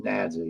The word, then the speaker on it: NADSA: our Tik Tock uh it's nadsa that that's pronounced nza y'all North Alabama Democratic Socialist